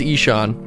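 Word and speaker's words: Ihsahn: week was by Sean which is not spelled how it's phonetically pronounced which I looked up it is Ishaan but it is IH s a HN and his album is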